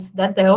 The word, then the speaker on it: cidadão: tem oxítonos então né quando eu tenho essa última sílaba tônica é o caso do cidadão eu falo o cidadão né não cidadão nem Cidadão ao cidadão aí eu acrescento